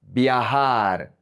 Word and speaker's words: viajar: La J en español sounds like the H in English. So we say mejor, mejor, better, mejor.